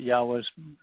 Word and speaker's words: Yahweh: This is, and it also kind of helps to prove that Yahweh's pronunciation, or the pronunciation of Yahweh's name is Yahweh.